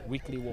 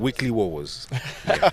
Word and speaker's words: Weekly Wowos: I show that I pronounce Weekly Wars. weekly Wowos. Again. Weekly Wowos.